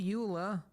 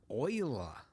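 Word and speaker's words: Euler: a utilities rotation rotate not Ula Oiler that yes I know they went with the weird pronunciation I think it was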